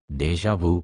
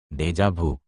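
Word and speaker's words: déjà vu: দেশজাভু উচ্চারণ দেশজাভু একটি ফরাসি শব্দ যার আক্ষরিক অর্থ হল আগেই দেখা দেশজাভু হলো এমন এক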